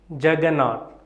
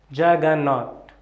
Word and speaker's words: juggernaut: How do we pronounce it? Juggernaut. Please pronounce with me. Juggernaut. Juggernaut. This is a bonus word because it was originated from India, literally meaning Lord of the world.